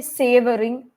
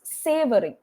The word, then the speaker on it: savoring: Okay, savoring. You have to be open with your mouth when you speak in English. So it's savoring.